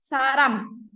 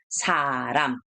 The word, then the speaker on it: 사람: 사람. Wah, cepat. S-A kan, sa. Lalu ini R, A. Di bawah masih ada M kan? Jadi, ram, begitu ya. Saram, saram.